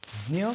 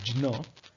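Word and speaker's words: ज्ञ: Dnya comes in various pronunciations in different languages. For example, in Sanskrit, it is pronounced as Jna, and in Hindi, it is pronounced as Gya.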